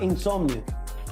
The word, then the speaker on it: Insomnio: El nombre del álbum se llama Insomnio. Insomnio. Ah, Insomnio. Aquí me dijeron que era Insomnio. Es que, bueno. Bueno, Raúl, ¿qué lo te puedo escribieron decir mal. si aquí te ponen el nombre mal? Insomnio.